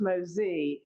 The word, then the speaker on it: Mosie: The Mosie family, and Dale made sure to tell me it's pronounced Mosee because it's French.